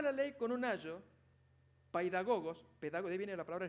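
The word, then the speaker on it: παιδαγωγός: El paidagogos, o paidagogos es la pronunciación correcta, pedagogos, era el esclavo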